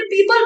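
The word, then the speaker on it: people: ना, क्योंकि आगे हमें पता था कि सही प्रोनाउंसिएशन क्या है, क्योंकि मेरे लिए वो प्यूपल ही सही था। हमने बचपन से प्यूपल ही बोला था, हमने पीपल बोला ही नहीं था लोगों को।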